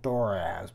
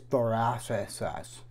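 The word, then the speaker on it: Thurisaz: I got in the bad habit of saying Thoraz, but it's actually Thoraziasis.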